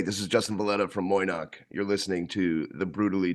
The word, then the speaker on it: Moy'noq: Yeah, we say it phonetically. It's just Moy'noq.